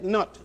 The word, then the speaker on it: Nut: And then there was another a female deity by the name of goddess Nut, spelled like nut, Nut.